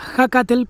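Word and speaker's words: Ehécatl: está dedicado a acatel se escribe eje catel pero se pronuncia hacatel porque justamente hacer El Dios del viento se debe pronunciar con un suspiro no con una exhalación pronunciada bueno Y ustedes se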